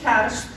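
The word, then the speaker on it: ceart: И сочетание «рд», «рт» в обоих случаях дает звук «ршт». Например, в слове «актшпойл», «спойль» — это высшая школа, или «кяршт» — правильно.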